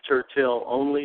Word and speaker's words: Turtel Onli: My name is Tertill Only. That's spelled t u r t e l o n l i.